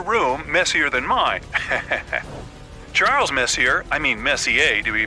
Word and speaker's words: Messier: Pronounced Messier, not Messier, as in is your room messier than mine? Charles Messier, I mean Messier to be precise, was a French astronomer in the 18th century.